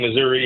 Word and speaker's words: Missouri: state in now because you will now be pronouncing the state correctly as Mark Ellinger says Missour and every real Missourian says Missour the deal yeah the